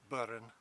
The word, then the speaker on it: burn: It is the Scots burne, and that's very similar to how it would have been pronounced in Old English times. The Scots have retained that R, the pronunciation of R's in the middle of words, which we don't, Southern English people don't often do. But the people of this